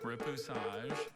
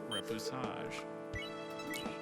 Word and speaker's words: repoussage: Repoussage. There's no alternate pronunciations, just repoussage.